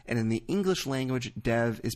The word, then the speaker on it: Dev: as Dev Patel so once again you're supposed to factor the English pronunciation which I was doing but I was also honoring what Dev himself wants to be called which is Dev so thank you for uh the correct answer if you're a Hindi speaker but in our case it's Dev as it is for Dev as well thank you